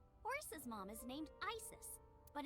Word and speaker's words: Isis: horses mom is named isis but in ancient egyptian it's pronounced closer to isa or asa hmm how do i